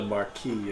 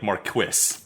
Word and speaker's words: Marquis: __ ] it was it was the Marquee of Sky City yeah no they pronounced like Marquis like yeah yeah well